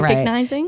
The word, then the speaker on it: recognizing: I've been having trouble with the word recognizing lately because I don't think I've been saying it right. Recognizing? Recognizing. Oh, that you missed a. I think I said recognizing. Yeah. RECKONIZING. And I mean to say recognizing.